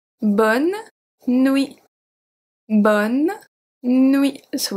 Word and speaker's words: bonne nuit: We simply say bonne nuit. Bonne nuit. So we don't pronounce the E at bonne. We don't pronounce the T at nuit.